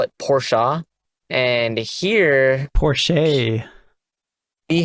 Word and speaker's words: Porsche: they pronounce it like portia whereas here we don't the e is silent so we just kind of like say oh it's porsche then how come we